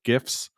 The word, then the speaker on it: GIF: It's GIF with a gosh dang G.